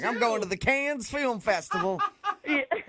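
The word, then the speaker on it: Cannes: But the pronunciation is it con or can?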